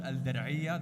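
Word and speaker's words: Al Diriyah: It's in a place called Al Dir'iyah. That's how you pronounce it.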